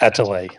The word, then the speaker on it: Atelier: By the way, not to point this out or anything, but I think it's pronounced Atelier, Art Academy Atelier. Okay, sorry. Atelier.